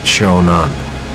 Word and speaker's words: Shonan: When they captured the city, they renamed it Shonan. Sho is the character, the first syllable for the first part of the emperor's formal name, Showa.